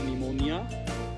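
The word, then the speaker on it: pneumonia: शी हैड निमोनिया, P silent है यहाँ, उसको निमोनिया हो गया है.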